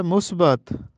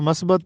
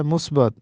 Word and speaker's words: مثبت: درست تلفظ ہے اخراجات۔ یہ درست تلفظ ہے مثبت، ہم اس کو مثبت پڑھتے ہیں، حالانکہ درست تلفظ ہے مثبت۔ ایک اور لفظ ہے